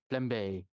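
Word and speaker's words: flambé: method that goes uh flambe flm bay i do not know how to pronounce that most of the time flambe there you go i only have time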